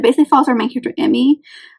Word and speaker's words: Emi: It's not super long, but it basically follows our main character, Emmy. I think is how you pronounce it. It's EMI.